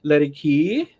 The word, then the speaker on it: Laedeke: very special guest here drake ladykey hello did i pronounce that did i pronounce it correctly yep you did i i did a